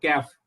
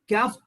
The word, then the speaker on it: CAF: दूसरा tool it is named as CAF, यानी कि कैफ। इसको कैफ बोल सकते हैं, वी कैन pronunciate it एज अ कैफ, CAF, consider all factors, consider all factors.